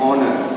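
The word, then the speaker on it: honour: एन ऑनर, क्यों? क्योंकि H start एक कॉन्सोनेंट से होता है, लेकिन जब हम लोग बोलते हैं तो वो साइलेंट हो जाएगा, और उसके जो बाकी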